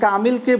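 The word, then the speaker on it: كامل: যেমন কামিল, আরবিতে বলা কামিল, কিন্তু উর্দুতে এই কামিল শব্দেরই উচ্চারণটা আমরা করে থাকি কামেল।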